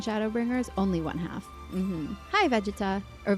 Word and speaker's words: Vegeta: Hi, Vegeta. Or Vegeta. How do I say that? What's the right way to say that? I love Blackpink. Hello. Vegeta, it is. Okay. Sorry, I said it wrong.